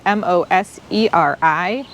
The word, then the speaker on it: Moseri: this Pine is called pinus sylvestris Moser and that's spelled m o s e r i it is a moseri dwarf golden Scots pine